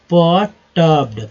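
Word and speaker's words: perturbed: परेशान के लिए क्या वर्ड होगा, परटर्ब्ड, परटर्ब्ड, पी ई आर को अर बोलते हैं, पी में लगे पर, पट टी यू आर का अर बोलेंगे, परटर्ब्ड, परटर्ब्ड मीन्स परेशान या क्षुब्ध या व्यग्र या व्याकुल।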